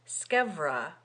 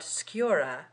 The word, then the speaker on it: scevra: to tell you that the pronunciation of that word, scevra, with a V, and not sciura, with a U, because it is a contraction of scavera. It remains to be seen which of us is wrong. You, madam, according to Aristotle, who makes scevra rhyme with persevera, and the rhyme would be false with secura, which is not an Italian word.